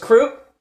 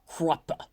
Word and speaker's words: Kruppe: well first and foremost croup is that how do you say his name um I I've always had a blast in the audiobook for it the guy always says like Krupa in this nice way so I've always said